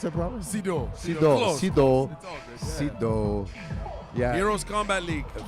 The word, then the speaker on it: Seydou: Did I pronounce that properly? Sido.